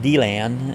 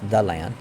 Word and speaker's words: DeLand: that they'll call here deland they'll call it d land and it's like no no it's it's the land you know yeah yeah you say it how